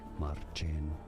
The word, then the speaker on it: Marcin: We are looking at how to pronounce the name of this Polish guitarist, Marcin. Marcin. This is why, in English, his name is often said as This is Martin. This is Polish Martin. Marcin. Okay. Marcin.